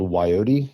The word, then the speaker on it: Wyote: I also have a project in Belgium called Wyote. It's spelled like Coyote, but with a W.